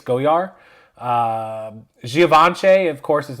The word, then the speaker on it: Goyard: The Goyard is not Goyard. They don't pronounce the D. It's Goyard.